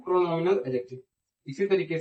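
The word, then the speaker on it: pronominal: को, इसको कहते हैं प्रोनोमियल, प्रोनोमियल एडजेक्टिव। क्या कहते हैं इसको? प्रोनोमियल एडजेक्टिव। ठीक है, डिमॉन्स्ट्रेटिव प्रोनाउन को क्या क्या कहते हैं? प्रोनोमियल, प्रोनोमियल नहीं, प्रोनोमिनल। एक मिनट यार, प्रोनोमियल नहीं, प्रोनोमिनल, प्रोनोमिनल, प्रोनोमिनल।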